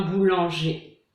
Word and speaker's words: boulanger: Donc en général, quand on a ER à la fin d'un mot, ça fait le son E. Un boulanger.